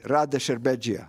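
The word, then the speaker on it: Rade Šerbedžija: Rade Sherbegia.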